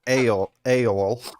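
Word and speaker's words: Eorl: of mind go ahead so the house of a AOL as it's pronounced e e o r l that's like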